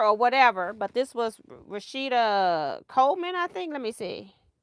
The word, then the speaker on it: Rashida Coleman: whatever but this was Rashida Coleman I think let me see yeah rashita Coleman want to make sure I say her name right so I got that